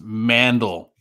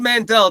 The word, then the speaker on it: Mandel: It's Mandel. Oh, I said Mandel, didn't I? You said it wrong. I know it's Mandel. I always think Howie Mandel.